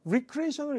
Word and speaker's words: recreation: 재창조 된다고 얘기했거든요 재창조를요 recreation을 읽으면 재창조가 되지만 recration이라고 읽으면요 우리가 잘 아는 레크리에이션 많이 얘기하죠 게임을 하고 옆 사람하고